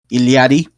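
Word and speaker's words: Illari: On Thursday, they announced, or rather, they announced day before, Ilari, or Iliari, if I want to pronounce it correctly, the new hero for Overwatch.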